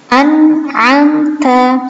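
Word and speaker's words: أَنْعَمْتَ: Nah, ini nggak boleh an'amta, nggak boleh dipantulkan, tapi harus jelas an'amta.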